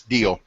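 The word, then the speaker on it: Diehl: evening from Corning and did we settle on how to say this d i e HL yeah it's deal deal Corning andal because I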